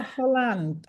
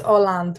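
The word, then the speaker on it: Hollande: President right yeah are Holland Holland is that how you pronounce it yeah I think it's orand without the H oh yeah that's it there's no h right so that must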